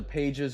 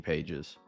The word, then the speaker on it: Pages: I just realized there's a pages on the uh Cardinals 2 that I might that might be Pas and not Andy Pages for the Dodgers actually Andy Paes. I said it wrong.